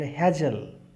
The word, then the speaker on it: Hegel: 18th century German philosopher हेजल। German philosopher हैं हेजल, HEGEL या हेगल, अलग अलग प्रोनाउंसिएशन से जाने जाते हैं।